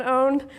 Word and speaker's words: pwned: Well, it turns out that there are a lot of these owned passwords. Owned, by the way, spelled with a P, is the hacker way of spelling owned, but you keep the P silent, and if you do